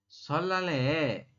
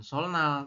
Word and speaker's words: 설날: Yang pertama, Mas Rian bilang katanya, Jihun sih, ya Mas Jihun, kemudian solale, goyangnya 잘 다녀왔어요 ya. Solal ini dibacanya bukan solnal tapi solal ya. Jadi nien di atas berubah menjadi real ya.